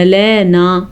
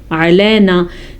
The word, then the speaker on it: علینا: تردّ، ان غنہ، ان علینا، بعض اس کو پڑھتے ہیں علینا، علینا نا کر کے پڑھنا ہے کیونکہ نون الف مدہ کے ساتھ ہے، الف سے پہلے نون کے اوپر زبر ہے تو یہ الف مدہ ہے. علینا کے بجائے آپ نے پڑھنا ہے علینا. اگر آپ پڑھتے ہیں علینا تو ٹھیک کر دیں، علینا نہیں، علینا.